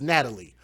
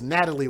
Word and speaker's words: Natalia: So I think it's Natalie Wallace, but they spell it as Natalia.